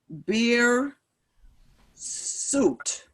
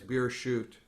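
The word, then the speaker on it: בִּרְשׁוּת: so make the the the vowel under the rash the schwa the two dots is silent there a beer suit that's a typo the duck should be on the other side the word is beer shoot okay so please feel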